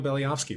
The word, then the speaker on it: Beliavsky: well yeah anyway uh baliowski for anyone trying to figure out how to pronounce my last name hasn't been an issue